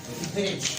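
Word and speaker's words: bridge: मैंने वर्ड लिखा ब्रिज, क्या लिखा? आप कभी भी इसकी प्रोनाउंसिएशन ब्रिटिश नहीं करते।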